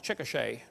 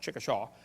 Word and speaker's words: Chickasha: 2005 textbook, and I pronounced it wrong, it's Chickasha, not Chickashaw, Chickasha, Oklahoma.